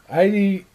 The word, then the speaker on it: Aiti: It's Jui, but Aiti rhymes with mighty.